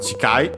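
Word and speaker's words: 近い: This one also should be accented, by the way. Chikai, yes, it is. By the way, of course, the the E of C is barely heard if at all because it's between unvoiced consonants.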